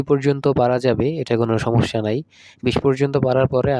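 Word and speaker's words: 삼: রস ই অর্থ দুই স আকার সা ম উচ্চারণ হবে সাম সাম অর্থ তিন ছয়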